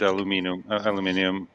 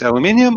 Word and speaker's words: aluminium: it was like molded aluminum. Is it aluminium or aluminum? How do you say it? Either or. You say tomato, I say tomato. It depends on what side of the Atlantic you're on.